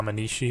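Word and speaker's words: Menaphos: kind of mad that I've been saying it wrong this whole time it's not a Minji it's a menisci or whatever has an extra eye in there that I didn't see but since the temple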